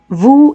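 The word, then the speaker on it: vous: two or more people is the letter S at the end of the word Wu is silent third person singular e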